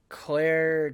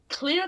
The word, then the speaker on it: Clear: to check on Eugene we should be pronouncing it clear I believe I can't remember clear I think clear yeah it's clear it's clear yeah we've been pronouncing it around this entire time I think we're sorry